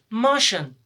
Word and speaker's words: Martian: The pronunciation of these four letters will be shun. Shun. For example, Martian.